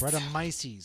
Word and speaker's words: Brettanomyces: It's a golden sour aged with hey, how do you pronounce this again? Brettanomyces? Brettanomyces, because I blended with Roussanne Must.